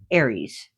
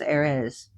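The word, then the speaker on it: Ares: he could be like Ays Aries, but he's pronounced Arz. Not talk about the goddess Aris, we're talking about the god Arez.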